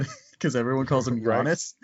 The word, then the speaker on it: Giannis: my Greek friend that the way you pronounce his name is Yanni did not know that